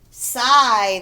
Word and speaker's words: sigh: Kind, fry, sigh, the GH is silent.